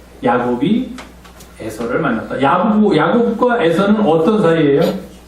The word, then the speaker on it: Esau: 이게 발음하기가 굉장히 어려워요. 이 미국 사람들은 이수스 그러는데 우리는 그렇게 발음 안 하고 쉽게 합니다. 에서. 야곱이 에서를 만났다.